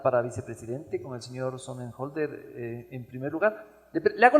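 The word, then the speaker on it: Sonnenholzner: Lo conozco, y por eso, como lo conozco años, pronuncio bien su apellido. Otto Sonnenholder. Es un joven, es inteligente, es preparado.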